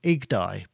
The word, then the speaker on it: YGDAI: I think it's called IGDAI. That's how you say it. But I'm going to say YGDAI.